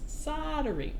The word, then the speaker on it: soldering: see Marcus Jess's assistance do Americans not pronounce the L in soldering no we don't because the word is not soldering because here in the US it's soldering soldering we do not